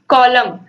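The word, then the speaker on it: column: तो कॉलम बोलने पर ही पता चल रहा है कि कॉलम, COLUM तो आ रहा है लेकिन एन का कहीं उच्चारण ही नहीं हो रहा है, कॉलम। तो ये जो यन है ये क्या हो गया? साइलेंट हो गया।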